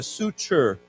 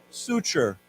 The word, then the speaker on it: suture: And this t has a ch sound to it. So, why don't we say together? Suture. Suture.